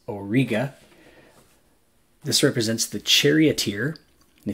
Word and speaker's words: Auriga: appreciate that v winter constellation is called Auriga the correct pronunciation is Auriga this represents the charioteer